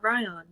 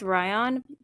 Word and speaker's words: Rhion: kind of I I'm I'm thinking it's Ryan because Ryan in cuz it's spelled r h i o n yeah I'm guessing Ryan cuz that's yeah after